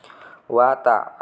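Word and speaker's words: وَتَعَاوَنُوا: Wa ta'awanu. Ini bacanya 2 harokat. 2 harokat itu 2 ketukan. Kira-kira seperti itu. Wa ta'awanu. Wanunya juga sama. Wanu. Ini ada wawu sukun, ada dhammah. Ini ada harokat fathah, ada alif.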